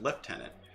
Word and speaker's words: lieutenant: that's why colonel and lieutenant are lieutenant in British English is pronounced lieutenant, and that's because it was a pronunciation. The spelling was French, the pronunciation's English.